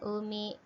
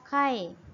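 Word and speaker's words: 海: Untuk yang pertama ini umi ya, bacanya umi, laut. Berikutnya, kanji yang dua kanji sudah belajar ya. Ini Nihong. Nah, dibaca Kai kalau digabung ya.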